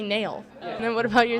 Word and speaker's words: Nail Yakupov: Nail Yakupov. You got the last name right, but the first name is actually Nail.